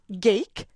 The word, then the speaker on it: Gake: So I wanted to share some of that really great conversation that I had with George Gake, rhymes with cake, and Adrian Rivard.